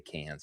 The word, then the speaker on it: Cannes: He's won Con. I believe you say Con. But I like to say Cans just because he'll tell you how to say it.